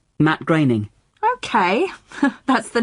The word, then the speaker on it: Groening: I always thought it was pronounced groaning. Well, I did too, for a long time. But no, it isn't. It rhymes with raining. Matt Groening.